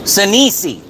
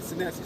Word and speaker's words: Senesi: Sanisi. Is that how you Say it correctly. Senesi, sir. Senesi?